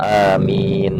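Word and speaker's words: آمين: Bitakhfif, dibaca ringan. Amin, amin. Nah, jadi di takhfif itu ya tidak ada tasdid, ringan dibacanya, amin, bukannya amin, bukan seperti itu, tapi amin gitu. Wal maddi, dan panjang, wal maddi, dan panjang, amin.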